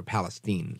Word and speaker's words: Palestine: settlement that occurred in East Palestine Ohio or Palestine is how they say it I believe so those are a couple